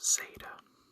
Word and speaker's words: zeta: Next, we have Zeta. So Zeta is pronounced like the S and the D in the word wisdom.